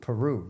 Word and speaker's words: Peru: Peru, yes. Like the country? It's spelled exactly like the country.